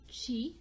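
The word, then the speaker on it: ち: Now, instead of T, we're actually going to pronounce it Chi.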